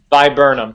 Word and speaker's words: Viburnum: How do you really pronounce it, Shane? Viburnum.